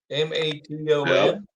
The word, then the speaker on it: Maton: Maton.